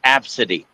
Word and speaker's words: Abcde: She goes, "No, it's pronounced absity."